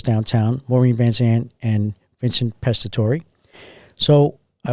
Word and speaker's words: Pastore: So Daddy said it's Pastore. He dropped the E. He didn't take the E away, but he never pronounced it again.